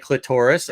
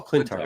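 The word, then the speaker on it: Klyntar: like this you know is that how you pronounce the planet's name clintar oh clintar sorry clintar well my bad and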